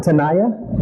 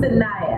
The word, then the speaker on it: Sanaya: Tanaya? Yeah. Why you look embarrassed when you say that? No, you said it wrong. Sanaya.